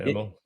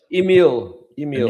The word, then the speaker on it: Emil: Is that the right pronunciation, Emil? Emil. Emil. Okay. Yeah, it's French, unfortunately.